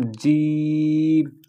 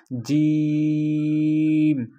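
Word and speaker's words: جيم: শক্ত কিরকম? জিম, মুখের ভিতরে চাপাই ধরে তারপরে বলতে হবে একটু জোর দিয়ে। জিম।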